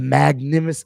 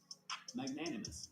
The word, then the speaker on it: magnanimous: A magnimous a magname. Oh, how do I how do you say that one? That one's a little I don't like Let me see if I can get magnanimous.